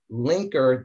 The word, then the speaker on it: Lnk3r: in boy l-a-n-k-e-n-s-h-i-p at linker dot n and i'll spell it linker it's pronounced linker but it's spelled a little funny so it's l n